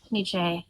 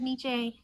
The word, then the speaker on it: Nietzsche: This is my favorite book by Nietzsche in the whole world. Now you're probably thinking that's not how you say it. If you have heard it just like anecdotally, it's most people say Nietzsche, and they're like, Nietzsche, existentialism, you believe in nothing.